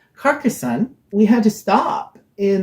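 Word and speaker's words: Carcassonne: together Celia's copy of carcassone and my copy of carcazone and we did like a marathon carcasso oh she's carcasson sorry I keep on mispronouncing it carcassan we had to stop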